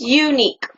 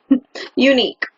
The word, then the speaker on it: unique: How to say this word is unique. Like Y-O-U, unique.